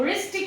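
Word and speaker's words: wrist: के पहले W आ रहा है तो ये साइलेंट हो जाएगा। राइट को भी हम वराइट नहीं पढ़ते, राइट ही पढ़ते हैं, एंड रिस्ट को भी हम वृष्ट नहीं पढ़ते, रिस्ट पढ़ते हैं।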